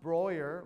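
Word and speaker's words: Breuer: And it's pronounced Broyer, like lawyer or voyeur, depending on your interest.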